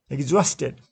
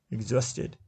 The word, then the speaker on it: exhausted: Exhausted. Second syllable is stressed. Exhausted.